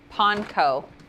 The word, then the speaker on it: panko: Panko, which apparently is the correct way to say it.